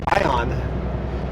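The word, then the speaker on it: Ione: for welcome to ion I've had comments that says no it's I onlyi but the locals I talk to said ion so I'm going with ion it's spelled I o n e back in the day I used to call it i1 or ion or ion but when I talk to the locals he goes ion in fact this auto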